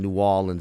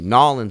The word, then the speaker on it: New Orleans: Nolans is what drives me crazy. Nolans. That shit makes me want to fucking bash my head through a wall. But New Orleans, what about that? New Orleans is how you say it. That's how you say it. But a New Orleanian will say New Orleans. Yeah. It's like a dip, New Orleans.